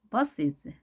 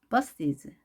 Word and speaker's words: buses: 그래서 이를 넣어주고 뒤에 오는 s는 z로 발음합니다. 왜? 모음으로 끝났기 때문이죠. 우리 유성음 모음이 단어 끝에 놓이게 될 때 s는 z로 발음하기로 약속했죠. 그래서 발음은 buses, buses. 자, bus is로 하지 않고요.